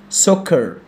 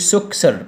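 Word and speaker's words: soccer: سوكر السي دي سايلنت، وبنطق السي دي ايه، ك، فبقول سوكر. سوكر ما تقوليش سوكسر، مش اسمها كده خالص، تمام؟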